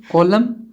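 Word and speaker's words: column: कॉलम, कॉलम का अर्थ होता है स्तंभ या फिर खाना, एनसाइलेंट है कॉलम का।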